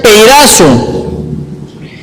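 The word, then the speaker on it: πειράζω: palabra Tentación esa palabra es la palabra que se pronuncia peazo la encontramos en en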